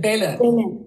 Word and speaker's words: Belen: Is that how you said, pronounced it? Belen. Belen. Belen, yeah. Belen, which is, yeah, home of Judy Chicago's flower store and all that, you know.